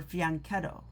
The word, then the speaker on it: fianchetto: It's fanchetto, really, you guys. Just so you know. I like to say French cheeto because, it's funny. It's really called a fanchetto or fianchetto. Fianchetto is how they say it.